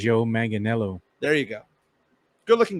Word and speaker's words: Joe Manganiello: I have no idea how to pronounce his name correctly. Joe Manganiello.